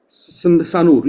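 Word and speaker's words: Sanur: करके एक हार्बर था एस ए एन यू आर सानूर यस यस यस ऐसा कुछ प्रोनाउंस करते हैं तो वहां तक छोड़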